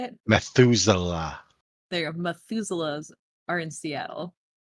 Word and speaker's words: Methuselah: Methuselah.